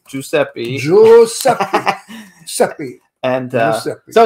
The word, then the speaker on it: Giuseppe: Giuseppe. And is that how you say it? Giuseppe? Giuseppe. Giuseppe.